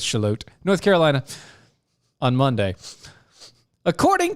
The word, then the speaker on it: Charlotte: Shallot. No, they say it in. I know, but it's spelled- actually certain people call it shallot. Yeah. It's shallot. Shallot, but it's Charlotte, North Carolina, on Monday.